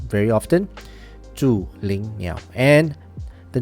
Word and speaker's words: Zhulinniao: Now, the brand name is Zhulinniao, okay? This is the proper pronunciation. I'm not too sure how you guys gonna pronounce it, but follow, repeat after me. I'm gonna repeat this name very often. Zhulinniao.